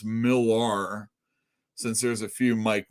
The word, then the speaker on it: Millar: I like to pronounce Millar, since there's a few Mark Millers out there.